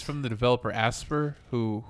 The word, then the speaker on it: Aspyr: Their track record it's from the developer Asper, who Asper, not Aspire, sorry. I don't know how you spell it. Aspyr. Aspire. Aspire. I guess would say Aspire. Yeah, I've heard people say Aspire.